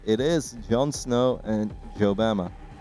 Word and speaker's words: Jobama: It is Jon Snow and Jobama. Or Obama with a silent J.